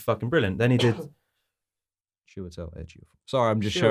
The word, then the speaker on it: Chiwetel: Chitwell Ejiofor. Oh. Chitwell. Is that not how you pronounce No, it? it's Chiwetel.